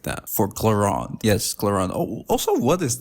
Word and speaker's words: Clorinde: way to pronounce it no cuz it's in French is cland and then I'm not going to say like cland every time so I just claron cland so like claron is closer to claron then cland I do